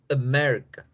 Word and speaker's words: America: Entonces, si se dan cuenta, la A no lleva el apóstrofe, por lo tanto, la fuerza va en Mérica.